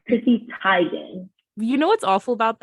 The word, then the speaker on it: Teigen: tired of living this it's tigen in september 2018 she's correcting those who have pronounced it teagan all these years so it's chrissy tygan you know what's awful